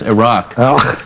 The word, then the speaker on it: Iraq: to protect themel and we never even pronounced the country right I we called it Iraq it's not Iraq it's Iraq but Iraq sounds like